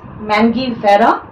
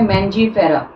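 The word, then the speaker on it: Mangifera: Order सेपिंडेल्स, family Anacardiaceae, genus मैंगीफेरा, आप इसे कई बार प्रोनाउंस करते हैं मैंजीफेरा, व्हाटएवर यू वांट।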